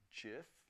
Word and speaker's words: GIF: what kills me here about the gif soft G once again folks I'm sorry non-negotiable and the PNG um